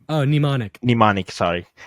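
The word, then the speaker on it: Mnemonic: memory PL like dude I'm sorry if I mispronouncing like the the song names but neic like oh nimonic nimonic sorry it's okay yeah Dad and listen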